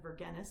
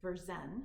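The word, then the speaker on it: Vergennes: name is and I wrote down how to pronounce this. It looks like Verennis, but of course that's not it. If you don't speak French, it's um Verzen. His name is V. Beren, Berzen, it's how to pronounce it.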